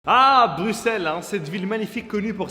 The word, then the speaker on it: Bruxelles: pas que ça oui on écrit Bruxelles avec un X on le prononce Bruxelles est-ce que tu as